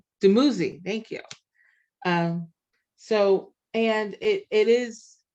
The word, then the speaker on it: Dumuzi: goddess Inanna and the god, and I'm gonna mispronounce this, Dumzi, Dumuzi, thank you.